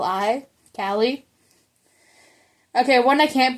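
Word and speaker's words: Kali: actually a goddess about k a l i cie okay one I can't pronounce but it is spelled you guys want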